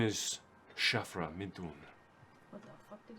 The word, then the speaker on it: Shafra: my name is Shafra Midun.